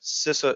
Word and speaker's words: CISA: It's being developed by the Homeland Security folks over at CISA is how you pronounce it, CISA.gov.